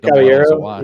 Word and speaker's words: Caballero: Is it Caballero or Caballero? I don't know how they say it. Caballero. Yeah. Yes. The double L's Y.